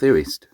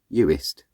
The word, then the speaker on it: Uist: And then hopefully we're going to catch a ferry over to North Uist. Uist? Uist.